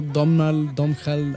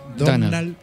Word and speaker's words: Domhnall: pueda pronunciar correctamente, pero es como Domhal, algo así. No, es Donald Gleason.